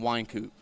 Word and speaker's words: Wycoop: Hey, just wanted to pronounce Wycoop. Wycoop. Wycoop. Yeah, like the wine.